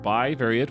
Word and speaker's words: bivariate: they didn't realize it you're saying it correctly you're right by variate which i was covering